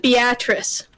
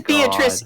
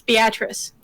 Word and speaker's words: Beatrice: We pronounce it Beatrice.